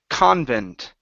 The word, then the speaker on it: convent: uh your last one here okay this is Convent Convent Convent okay one more time a a